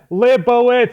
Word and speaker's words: Libowitz: I present you the one and only libowitz I know I said your name wrong how do you say it again